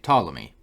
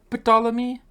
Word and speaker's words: Ptolemy: But with this being a loan word from Greek, I think Latin would keep the pronunciation as Ptolemy.